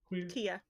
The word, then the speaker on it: Qia: I play how do you pronounce the Zora's name? It's like Qia or something like that. Kia. Quia or Kia? Kia. Kia. Okay.